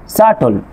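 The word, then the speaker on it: subtle: তারপর খেয়াল করেন ডেট, ডাউট, সাটল, এখানে কি আছে, বি এর পরে ঠি আছে, এই জন্য কি হচ্ছে আপনার এই বি লেটারটি সাইলেন্ট থাকছে।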